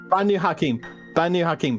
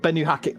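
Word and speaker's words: Banu Haqim: Banu Hakim, not Benu Hakim.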